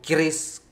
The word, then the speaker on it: keris: aja sih sebenarnya cuman sekarang itu keris keris kalau di Indonesia sekarang Kris kayak bacanya Ya jadi itu oh my